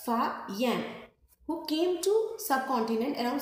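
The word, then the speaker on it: Faxian: उनमें एक आता है ये, इनका नाम आपको पढ़ने में ज़ियान जैसा लग रहा है बट एक्स is silent here, so we will pronounce it like फायान, who came to subcontinent around 1600 years ago.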